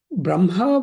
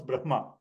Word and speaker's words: Brahma: When the following letter na and la, the hakara has to come from the navel. So the ha sometimes give the impression that it stays longer, like even after the pronunciation of na is done.